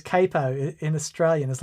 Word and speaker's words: capo: No, but It's capo because it comes from Italian capo something or other.